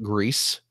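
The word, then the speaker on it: Gris: I did I picked up that new game grease for the switch is which I have received confirmation that it is pronounced grease tell me more tell me more it's the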